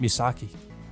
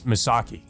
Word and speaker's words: Misaki: ah if it isn't misaki it's misaki for some reason she always gets his name wrong looks like he bought